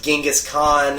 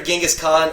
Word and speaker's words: Genghis Khan: The Mongols could have damn near after Genghis Khan, or actually his name's not Genghis, it's pronounced Genghis Khan.